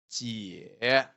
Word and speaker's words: 姐: Okay, ji plus ye gives jie. Okay, and then the third tone. Are you sure? 姐.